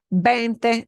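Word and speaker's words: veinte: tan and that is bente dolares and it's b-e-i so we've got a diphthong here a a it sounds like a vein vein with a te at the end okay and so that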